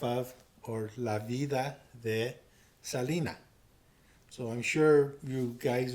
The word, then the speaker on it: Selena: your parents, you got to say not just Selena, you got to go Selena.